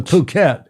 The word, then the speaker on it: Phuket: You see I pronounced that more carefully. Thank you very much. The Phuket.